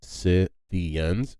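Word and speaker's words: Scythians: y t h i a ANS but it's pronounced sians and they were they were a nomadic tribe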